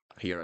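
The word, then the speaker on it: rir: I'm going to pronounce this as he, he. I know this one is hard. He. At the end of words would sound like this. He.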